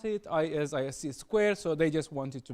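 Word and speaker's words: ISC²: because previously people thought it was hard to pronounce it is IC Square so they just wanted to make it simpler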